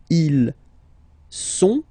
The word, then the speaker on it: ils sont: il, plural form, okay, ils sont, final T not pronounced, ils sont, elles sont, okay, ils sont, elles sont.